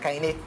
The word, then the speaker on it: Kaine: And Kaine is my middle name. It's called pronounced Kaine. Kaine. Yeah, Kaine.